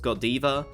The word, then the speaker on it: Godiva: collaboration with a brand that I believe is pronounced Godiva which happens to be a chocolate brand now